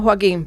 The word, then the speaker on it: Joaquín: Te vamos a llamar Joaquín, porque como estamos en España pronunciamos la J.